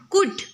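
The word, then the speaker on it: could: कुड, कुड में L silent हो जाएगा।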